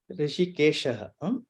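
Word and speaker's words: हृषीकेशः: Panchajanyam Rishikeshaha. Panchajanya Rishikesha. Rishikeshaha. Visarga should be pronounced.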